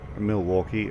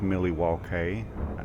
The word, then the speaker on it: Milwaukee: disengaged unfortunately I um I often pronounce Milwaukee as Millie W and uh that's mainly